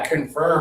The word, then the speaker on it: confirm: Your lips are going to go forward and open. Anna's been practicing. Abdullah does it great. Confirm is like early.